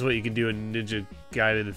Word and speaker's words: Ninja Gaiden: Yeah, I'm well aware that it's pronounced Ninja Gaiden or whatever. But as I've said many times, I grew up in an age where where we all called it Ninja Gaiden, like Raiden.